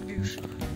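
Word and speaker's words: bûche: Я ж говорю, блін, буш чи бюш? Ну, буш це президент Америки. Якщо ти не знаєш французьку мову, то можеш прочитати як буш. Тому що ти не знаєш, що і читається як і.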